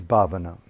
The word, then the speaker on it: Bhavana: How do you spell that? Sila? Sila, S-I-L-A, Sila. And the last is Bhavana.